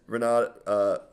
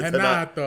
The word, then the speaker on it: Renato: It's Renato. Renato. All right, Slim. So if you ever see a guy with an R from Brazil, you have to pronounce it as a H.